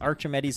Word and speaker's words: Archimedes: that he reckons call him Archimedes but yes Archimedes is the proper pronunciation did you know Luke oh no he